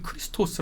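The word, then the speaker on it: Χριστός: 그니까 헬라어 하는 건 고대 이제 그리스어음 그리스어로는 크리스토스 아고 크리스토스 크리스토스 이렇게 발음합니다 그 말을 아 포르투갈이나이 스페인 사람들은 크리스토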